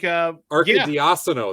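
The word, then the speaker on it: Arcidiacono: Ryan Arky. Diacono. Yeah. So like Arky Diacono. That's how it is.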